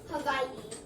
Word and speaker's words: Hawaii: Hawaii is actually locally pronounced Hawaii.